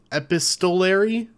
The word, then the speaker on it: epistolary: on yeah I think I think how you pronounce the word is es EP EP epistolary epistolary but yeah it's made if anyone doesn't